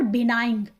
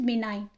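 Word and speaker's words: benign: आपको दोबारा से bowler it इज नॉट बिनाइन इट इज बिनाइन ji silent होगा इसमें मार्था इज अ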